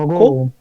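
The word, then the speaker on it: 먹고: মগো। মক্কো, মগো না মক্কো, দুইটা না গিয়ক না এখানে।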